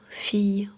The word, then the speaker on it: fille: Quand I2L est précédé d'un I, la prononciation habituelle est un son doux, proche du Y. Famille, fille, brouillard, veille.